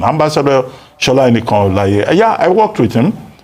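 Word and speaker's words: Enikanolaiye: Now, as for foreign direct investment, Shola Enikan Olaye, that's the correct pronunciation. Ambassador Shola Enikan Olaye.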